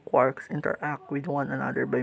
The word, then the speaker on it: quark: of six fundamentals consistent called quarks which rhymes with sharks although some rhyme it with forks these quarks are given